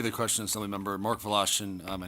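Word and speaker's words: Wlaschin: Mark Velashian. Uh, my name is spelled M A R K.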